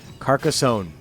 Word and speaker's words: Carcassonne: It's this one that's pronounced strangely. Carcassonne or something? Carcassonne.